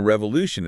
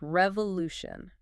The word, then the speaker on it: revolution: It is 4 syllables revolution and the stress, you know the strong part of the word is on the Lu.